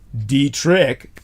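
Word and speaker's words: DIET/RICH: uh simple enough once you memorize it it's pronounced Dietrich but it's a d-i-e-t slash r-i-c-h database information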